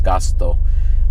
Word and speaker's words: Gusto: It's a good curry place, but Coco's Family Restaurant is one, and Cafe Gusto, which is pronounced in Japanese Gasto, but Cafe Gasto is another, and then the Joyful is another.